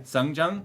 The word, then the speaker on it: Seongjung: Wow, you pronounced my name correctly the first time. So I'll donate again. Songjung?